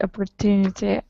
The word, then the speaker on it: opportunity: Because I don't say the T. I say it as a D at the end.